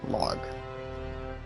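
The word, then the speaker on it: Larg: His name is Duke Log. Log pronounces as 4 letters, L-A-R-G. So he actually comes in,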